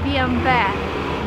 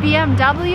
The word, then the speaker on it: BMW: This is a German car, and in Germany you would say BMW. But if you're in America and you want to sound American, it's BMW and no other options.